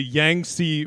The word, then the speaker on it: Yangtze: in asia uh i'm very sorry if i mispronounced this it is the yangtze river y-a-n-g-t-z-e river um until 1957 there was